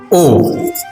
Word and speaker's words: を: The next character is o. O. This is O, written as WO but pronounced as O.